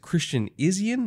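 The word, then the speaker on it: Christian Izien: one that you highlighted was it Christian isian is that how it's pronounced it is and we saw him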